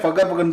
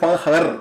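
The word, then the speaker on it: Fakhar: They are only அந்த ஃபக்கருக்கு மட்டும் அவன் பேர் எப்பவுமே ஃபக்கர்னு சொல்றான். அவன் பேர் ஃபஹர், கே வேற சைலண்ட்.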